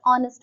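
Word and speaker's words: honest: देखिए ही is dash ऑनेस्ट मैन ऑनेस्ट है एच से कॉन्सोनेंट से स्टार्ट हो रहा है बट ओ का साउंड आता है इसलिए हम लिखेंगे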